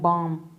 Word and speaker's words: balm: वो बाम कहलाता है, BALM, बाम। इसमें L अल्फ़ाबेट है जो साइलेंट रहता है।